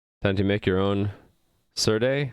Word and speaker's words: Serde: to make your own surday certi whatever it's called yeah i'm thinking it should be called sir d because you say serialization so seer actually it should be c or d serialization d serialization d c or d that makes the most sense to me if sardi is seer